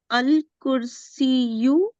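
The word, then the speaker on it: الكرسي: There is ya at the end. There is later ya. Yeah. So, al-kursiyu Yes.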